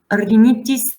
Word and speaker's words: rhinitis: So RH is R. Rhinitis, basically nothing special, only that this H, you cannot really hear the H.